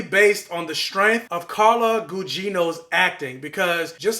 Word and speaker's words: Carla Gugino: the same thing with this movie like if Carlo Gugino I didn't learn how to say her name hold up I just looked it up so I was right carla Gugino where was I oh yeah if carla Gugino